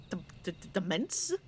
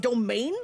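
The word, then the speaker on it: demesne: one's own right oh wait no it's actually pronounced domain okay sure it's a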